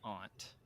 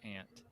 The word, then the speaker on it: aunt: around Boston and um most of them say Aunt instead of ant and so I I